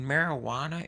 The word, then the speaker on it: marijuana: I'm gonna have her saying, you know, you ever notice that the J in marijuana is silent, but the one in my hand is loud as a motherfucker?